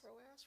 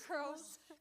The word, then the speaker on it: Croas: As long as you don't say Croas, we're good. Oh. You think I'm kidding. It is Croas. common mispronunciation.